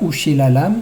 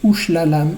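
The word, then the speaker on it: וּשְׁלָלָם: C'est pas Ushilalam, c'est Ushlalam Lavoz.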